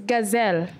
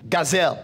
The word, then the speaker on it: Gazelle: It's Gazelle. Gazelle. Yeah. Like Gazelle the animal.